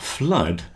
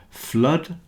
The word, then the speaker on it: flood: just said the word flood rhymes with mud and so does blood flood blood both rhyme with